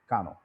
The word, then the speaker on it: Kano: is kano and uh japanese pronounced this name as kano so we should prefer using it the way japanese the native people call it kano now sort of i'll